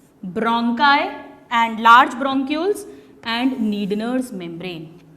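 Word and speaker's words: Schneider's: और हमारी जो ऑलफैक्टरी एपिथेलियम है उसे कहते हैं नीडनर्स मेम्ब्रेन। बहुत क्वेश्चन पूछते हैं नीडनर्स मेम्ब्रेन, इसमें एस साइलेंट है, नीडनर्स मेम्ब्रेन।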